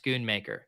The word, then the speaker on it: Schoonmaker: mispronouncing 150 player names I stand corrected it's Schoonmaker pronounced Schoonmaker yeah i o given a